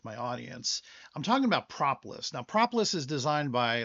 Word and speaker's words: propolis: And my goodness, I kept pronouncing it incorrectly the whole time. Propolis.